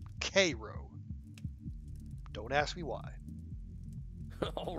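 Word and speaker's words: Cairo: spelled c a i r o but is pronounced kro don't ask me why all right Andy I'll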